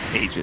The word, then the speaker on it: Aegis: pronunciation about eondisk radio aegis of the immortal aegis aegis you don't really know because we had a patch where it was said that it's pronounced ages that's true ice frog